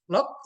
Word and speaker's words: ln: perlu saya informasikan ya Ini bacanya lock ini juga bacanya lock atau lengkapnya lock natural Jangan dibaca LN Anda ke luar negeri baca LN orang bingung dan baik yang ini